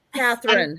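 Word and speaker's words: Katharine: pronounce her first name Catherine happens every single freaking Catherine so there's no l there's no l in her name yeah okay just like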